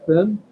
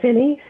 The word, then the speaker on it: Finney: Finn? Hi, yes, I'm Dr. Finney. I'm sorry. It's pronounced Finney.